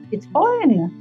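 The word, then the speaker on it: Citroën: Citroen o N em francês e o M ele tem que ser pronunciado um pouquinho mais forte para não besteira.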